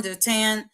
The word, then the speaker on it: Dothan: So Dothan, also spelled like Dothan, but it's Dotan is a Hebrew name meaning two wells or two cisterns.